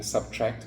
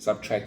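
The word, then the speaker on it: SBTRKT: And of course, with me thinking about the artist name, Subtract, but it's spelled like SBT R KT. Subtract.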